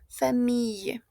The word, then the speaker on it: famille: Esta I, esta L que vemos acá va a sonar a una Y, ¿d'accord? Famille. La regla es que todas las palabras en francés que terminan en Y, comme ça, se pronuncian como una Y, ¿ok? Y, pero muy, muy despacio. A excepción de una, que va a ser ciudad, que es ville. A pesar de que se escriba con I-L-L-E, se pronuncia como ville con una L.